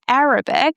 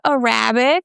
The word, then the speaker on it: Arabic: I know there are some people who speak Arabic. It's not Arabic, okay? We stress the first A, Arabic.